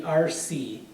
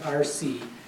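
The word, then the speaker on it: RSSEE: But we would call it the RC, R-S-S-E-E, okay, pronounced RC.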